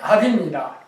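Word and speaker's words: אף: 그래서 압이라는 단어가 압이라는 발음하고 오르게라는 발음이 공교롭게도 히브리어로 압하면은 여기서 이렇게 갖고 압하면 이렇게 갖고 이렇게 되는데 이게 압입니다. 이게 발음이 압.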